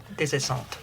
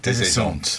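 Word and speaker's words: Des Esseintes: Uh, Desant. Desant. Thank you. Not Dez as in Desert.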